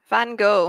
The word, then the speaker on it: Van Gogh: Van Gogh. And Vincent Van Gogh. What's interesting is we pronounce Gog as go. Correctly, so you pronounce it like Van Gogh.